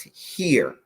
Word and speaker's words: hir: z and here okay h i r is pronounced here so this is z